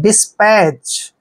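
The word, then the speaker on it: dispatch: है तो वहां पर टी साइलेंट होता है मतलब टी को हम वहां नहीं पढ़ते हैं डी का उच ड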